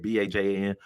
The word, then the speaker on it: Bajan: Bajan.